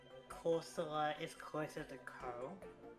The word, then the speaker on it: Corsola: a bit more nitpicky, but would you say Corsola or Corsola? Yeah, that's one I was kind of debating about as well. I think I say Corsola. Corsola? Yeah. I guess like Corsola is closer to Co.